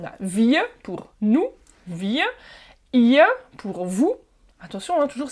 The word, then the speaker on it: ihr: wir pour nous, wir, ihr pour vous. Attention, hein, toujours, c'est pas ir, d'accord, ir, mais ihr, le i est allongé et le r à la fin se prononce presque comme un a.